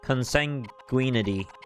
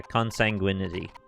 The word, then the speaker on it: consanguinity: or nor for myself consanguinity consanguine yeah consanguinity like sanguine a shared origin does